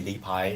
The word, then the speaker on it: Rippa: So so you can call me Lipai. It's like a Chinese pronunciation, and Rippa is like a Japanese pronunciation.